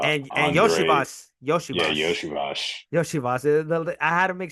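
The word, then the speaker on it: Iosivas: Yeah, Yoshivas, Yoshivash. Yoshivas. I had to make sure how to pronounce the name because it's a little weird.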